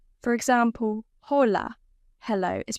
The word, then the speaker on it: hola: But in Spanish, H is always silent. For example, hola, hello, is pronounced hola.